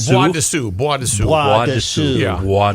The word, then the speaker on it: Bois de Sioux: By the way, Kenny, the S in bois is silent.